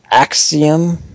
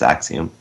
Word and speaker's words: Axiom: interested um next up another word I can't pronounce axium axom yeah it's Axiom oh look at that first try Axiom Verge coming to vaita